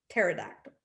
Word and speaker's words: pterodactyl: Because the P is silent. Pterodactyl.